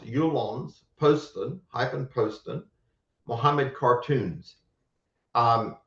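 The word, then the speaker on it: Jyllands-Posten: you j y l l a n DS pronounced yulon Poston hypen Poston Muhammad cartoons um and the author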